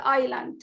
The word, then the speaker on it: island: have silent letters here like the word island we have silent is here okay and some of